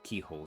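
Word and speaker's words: Cichol: Saint Keyhole shard, strange stone shard seems to have fallen off the statue of Saint Keyhole. I would never have thought to pronounce it that way if I didn't hear it in game.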